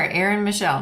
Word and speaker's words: Aryn Michelle: guest we have Aaron Michelle I think I pronounced your name right so you are Aaron Michelle that's it yeah thank you for joining us